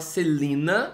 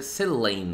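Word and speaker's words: Celaena: pronunciei de tantas formas Aparentemente a Sarah J mess diz que a pronúncia correta é Selena Selena o eu já vi eu Antigamente eu falava Selina porque e escreve com a e e junto mas Aparentemente o correto é seleen então eu vou tentar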